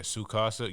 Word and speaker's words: Tsukasa: Yeah, Sukasa. You don't pronounce the T?